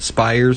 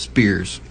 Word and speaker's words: Spiers: named Max Spears now I've heard his last name pronounced spires and I've heard it pronounced Spears since I'm American and I